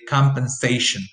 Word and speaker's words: compensation: say compensation like that you say compensation so you say it's more or less slowly so that you can achieve secondary stress here but primary stress will fall on the syllable before the last one just a quicker